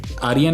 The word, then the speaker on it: आर्यन: आर्यन ही है ना आपका नाम? सही प्रोनाउंस कर रहा हूँ ना मैं? यस, ऐसा यस, आर्यन यस।